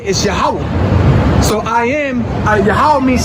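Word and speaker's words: Yahweh: say he is so when we say his name you say yahwah for example you got Jehovah Witnesses but is really yahwah's Witnesses the witnesses of yahwah the most high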